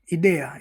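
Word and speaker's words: idea: यदि आई के बाद कोई व्यंजन आता है तो आई का उच्चारण क्या होता है? इ होता है। जैसे इटालिया। इटली को क्या बोलते हैं? इटालिया। इदया। इदया यानी विचार। आइडिया। आइडिया होता है उसको बोलते हैं इदया।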